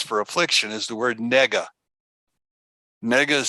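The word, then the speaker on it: נגע: The Hebrew word, now this is extra, the Hebrew word that we're going to use for affliction is the word nega. Nega is spelled N or Nun, Gimel, Ein.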